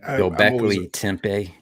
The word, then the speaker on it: Göbekli Tepe: Göbekli Tepe.